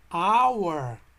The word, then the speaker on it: hour: eu vou dizer onde então vou ter que pronunciar sem o h como se estivesse sem agaporner mais uma our hora ao ar não tem som e portanto eu